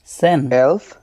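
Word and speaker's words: zehn: ফুন জেক্স জিভেন আত নয়েন জেন সেন সলফ সলফ এগুলা জেডের উচ্চারণগুলা যে এর মত হয় না স এর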